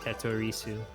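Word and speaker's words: テトリス: I was just saying Tetorisu because in Japan they pronounce it Tetorisu. And you hear it sometimes when they say like if you're playing like Tetris Online Japan, they'll tell you Tetorisu.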